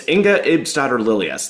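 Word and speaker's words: Inga Ibsdotter Lilleaas: Yeah, it's it's Eningga Ipsar Lilas.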